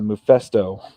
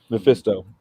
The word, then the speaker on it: Mephisto: me it was uh i never pronounced his name right uh mufesto yeah mephisto i don't know for some reason the fist in there never sounds right when i'm saying it uh he like takes